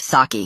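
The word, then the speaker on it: sake: And Siki is pronounced saki.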